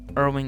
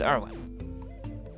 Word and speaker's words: Irwin: Irving is here. Or Irving. Is that even their name? Irwin? Is it Irwig? No, it's Irwin. It's Irwin. Thank God I haven't been saying their name wrong.